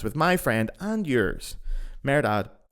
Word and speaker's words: Mehrdad: G flute podcast with my friend and yours merad one thing I'm going to ask you though before we do propably kick off is can you pronounce your name for me it's merad it's not it's not